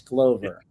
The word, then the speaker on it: Glover: It's Glover.